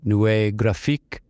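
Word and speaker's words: Neue Grafik: Firstly, it's pronounced Nouvelle Graphique. In English, I believe you call it New Graphic Design.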